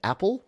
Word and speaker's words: Apille: So Tom says, in 2015, I recorded a concept album about a fictional girl named Apple, pronounced Apple, but spelled Apille, and also the title of the record, who miraculously conceives God's second son.